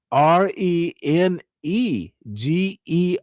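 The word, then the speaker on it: renege: By the way, let me spell it for you. R E N E G er reagger.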